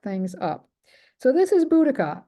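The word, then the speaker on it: Boudica: up so this is budika some people spell it with only one C some people pronounce it differently her name differently but I call her buddika she was the wife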